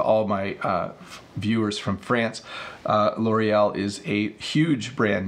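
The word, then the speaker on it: L'Oréal: and I'll flip it so this is L'Oreal that's how we say it in English I'm sure that somewhat close to the proper French pronunciation but L'Oreal is a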